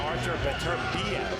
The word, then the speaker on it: Beterbiev: A fighter to watch out for is the #7 fighter, Artur Beterbiev. That's how it's said.